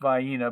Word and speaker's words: Vienna: a small can of Vienna sausages pronounced vaina by the local folk and headed for the